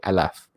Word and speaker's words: aleph: how we pronounce them so aleph in hebrew would say alaf and beat is also